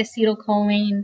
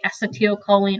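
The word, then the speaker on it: acetylcholine: the neurotransmitter acyline okay I say acetyl choline they say acetel choline I'm pretty sure that's just a robot voice pronouncing that for you but the yellow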